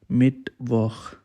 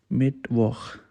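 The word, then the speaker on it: Mittwoch: next one is dear mid woh you have to pronounce same like i'm pronouncing their mid work it's mean wednesday they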